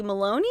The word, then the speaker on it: Maloney: Lala Kent, Katie Maloney, is that how you say it?